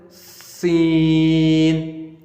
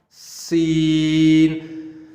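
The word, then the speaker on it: سين: So in Arabic, we pronounce it Sin, Sin. The method to pronounce this letter is the way you make whistle, and when you pronounce this letter, you have to make a whistle sound like Sin, Sin.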